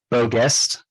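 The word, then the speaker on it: Beau Geste: Don Levy was nominated for, I haven't seen it, but am I pronouncing this right? Beau Guest?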